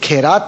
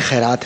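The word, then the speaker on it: خیرات: तो ये खैरात नहीं है खैरात है लफ्ज और ये ख़ुद ख़ुद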